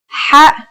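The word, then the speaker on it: ح: According to phonetic charts, ha is pronounced in a deeper part of the throat than kha.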